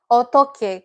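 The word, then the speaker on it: 어떡해: So otoke, correct. Someone used otoke for this. Otoke. That k you're hearing is that double kk consonants that are used.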